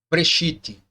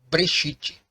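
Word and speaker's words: בְּרֵאשִׁית: que ele tem um som de B e não de V. Então ele já disse para mim que não é brechite, é brechite. Então você vê que o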